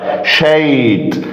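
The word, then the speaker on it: shade: طيب شيد، شيد هنا الاي في الاخر سايلنت فبنطق الاي الفاول باسمه. طيب تيلابيا، تيلابيا اللي هو البلطي او الشبار الكبير ده بالدمياط عندنا كده تيلابيا.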